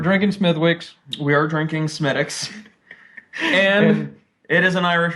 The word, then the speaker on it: Smithwick's: We are drinking Smittix.